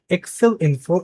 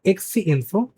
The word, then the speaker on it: Exeinfo: It's not Excel info, it's a Exeinfo. I made a mistake in pronunciation.